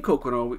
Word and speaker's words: Coqueron: making but the name kokono it took us a long time to figure out but what we think it is is his pronunciation of cook room we think it was